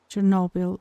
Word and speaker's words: Chernobyl: Chernobyl. Yeah, that one. I think the end is pronounced like Noble.